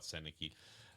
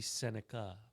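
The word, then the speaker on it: Sennecke: Correcting our pronunciations. It's supposed to be Senica.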